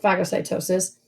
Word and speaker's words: phagocytosis: and phagocytosis yeah so to eat is tafage or we would pronounce it phagocytosis and to drink is